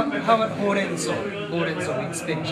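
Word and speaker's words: ほうれんそう: So the word for spinach in Japanese is horenso. So how are you going to remember this word? Horenso. The color orange.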